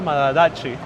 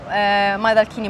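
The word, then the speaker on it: Maidalchini: the woman Madacci, Olimpia Madacci. Am I pronouncing the last name right? Donna Olimpia Madalchini, but that was La Pimpaccia.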